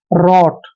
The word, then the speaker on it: wrought: WROUGHT में यहाँ पे जब भी आर से पहले W आता है तो वहां पर W हमेशा साइलेंट होता है, तो आर का उच्चारण हम रे लिखेंगे यहाँ पे, रे। और देखिए OUGHT का उच्चारण हमने ऑट करना है, ऐसे रॉट, रॉट।